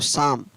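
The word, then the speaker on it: psalm: तो शाम, तो शाम की स्पेलिंग क्या होती है, पी एस ए एल एम, पी एस ए एल एम, तो क्या पढ़ेंगे इसको, शाम।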